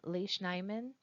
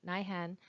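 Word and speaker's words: Lesch-Nyhan: these people suffering from leish nyman uh nihen sorry I keep mispronouncing that nihan syndrome they have a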